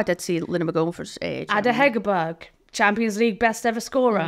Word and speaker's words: Ada Hegerberg: Ada Hegerberg.